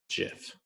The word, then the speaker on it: GIF: says they are wrong it is a soft g pronounced jiff so that's solely the